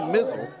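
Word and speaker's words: Mizell: do want to clarify it's Cody mizzle in goal spelled m i z l l pronounced mizzle according to the powers that be and he has been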